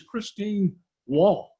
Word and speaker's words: Christine Wall: Our next candidate, I was initially told, well, my initial reaction was the pronunciation was Wall. I was corrected to say it was Wool, but I'm corrected by the candidate that it is Christine Wall.